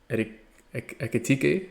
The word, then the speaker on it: Ekitike: Ekitike.